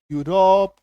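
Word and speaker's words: Europe: ये देखो जैसे ई यू आर ओ पी यूरोप ई यू एल ओ जी वाई यूजी इ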